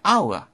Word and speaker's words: hour: 에치가 소리 나지 않습니다. 우리가 보통 묵음이라고 얘기하죠? 그렇기 때문에 아워, 몸으로 발음됩니다. 그래서 어가 아니라 언을 써줘야 됩니다.